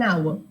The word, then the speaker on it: hour: is an honest gentleman so again you can see our honor honest all these three words H is silent so the next alphabet